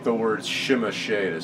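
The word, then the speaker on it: Tzimisce: But I have heard the pronunciation of this, and it is Zemisi. Because it was a video game, and they pronounced it that way in the video game.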